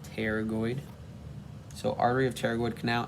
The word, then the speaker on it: pterygoid: over the pterygoid canal i say pterygoid because the p is silent just like in pterodactyl so pterygoid not paternoid pterygoid so artery of pterygoid